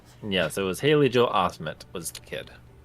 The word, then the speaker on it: Osment: it was Haley Joe Osment was the kid wait it's Osment Osmond I thought it was Osman no t I nope I've been saying it wrong all these years and